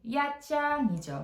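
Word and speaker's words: Nha Trang: 우리나라 분들한테는 나트랑이라고 많이 알려져 있어요. 근데 원래 이것의 발음이 야장이죠. 그래서 타임풀 위안입니다.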